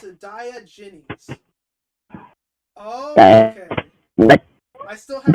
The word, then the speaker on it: Diogenes: Pronounce it Diogenes.